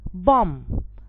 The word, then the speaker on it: bomb: climb i have thumb not thumb i have bomb not bomb so when the m and the